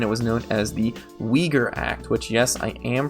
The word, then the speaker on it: Uyghur: s 178 and it was known as the uyghur act which yes i am pronouncing that right and i don't pretend to